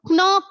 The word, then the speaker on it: knock: So here, if K gave you the sound keep, why doesn't K give you the sound knock here? Because Why is it knock? Because the K is silent.